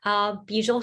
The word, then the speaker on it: Bijal: Bijal, I always say it's Beetle with a J. It's the easiest way to pronounce it.